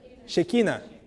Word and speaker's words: Shekinah: Yo siempre pronuncio mal en español, que en portugués se dice Shekinah. ¿Cómo es en español? Shekinah.